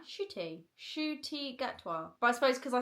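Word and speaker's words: Ncuti Gatwa: Shooty Gatwa.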